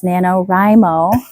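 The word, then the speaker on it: NaNoWriMo: It's Nanorimo.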